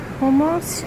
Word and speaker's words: Hjemkomst: go sitting eating and the name is almost I think is how you say it and it means home